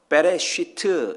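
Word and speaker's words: בראשית: 것입니다 창세기 1장 1절에 태초 는 히브리 말로 베레쉬트 이렇게 읽습니다 요한복음 1장 1절에 나오는 태초 는 a 캐라 고 있습니다 발음이 다르잖아요 같은 단어가 아닙니다 그런데 한글 성경에서는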